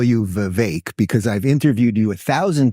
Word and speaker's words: Vivek: I'm not like a picky, pronunciation corrector, but yeah, Vivek like cake. Yeah. Vivek.